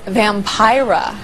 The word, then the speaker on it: Vampira: joining us now is Vampira rhymes with Tyra and she's leading a